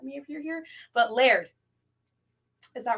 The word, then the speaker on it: Laird: like yell at me if you're here but Laird is that right uh otherwise they wouldn't have